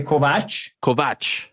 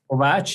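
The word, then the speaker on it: Kovács: name correctly is it kovacs i mean if if you go to hungary where i was born where i live it's uh you say kovach kovach yeah but uh you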